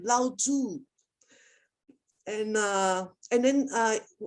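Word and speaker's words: 老子: too it's it's loud both word is third intonation so since we come to this class we always have to remember how to pronounce this name correctly so normal saying lao tu and uh and then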